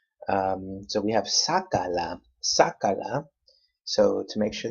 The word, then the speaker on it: sácala: So we have sácala, sácala, 3 syllables. Which one's the third to the last? That A right there, sácala.